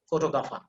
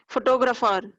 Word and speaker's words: photographer: is no just say photographer can you say photographer photo photographer forget about the r there is no r in this word the spelling is p